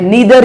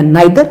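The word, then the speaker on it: neither: तो नेगेटिव में हम लगाते हैं नीदर या नाइदर। जो बोलना चाहते हो वैसे आजकल सब नीदर बोलते हैं और ईदर।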